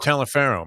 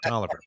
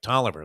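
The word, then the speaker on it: Taliaferro: mike tell him mike tollifer that's how you pronounce it mike toliver it was spelt talafero but it was like toliver like t-o-l-i-v-e-r mike toliver remember that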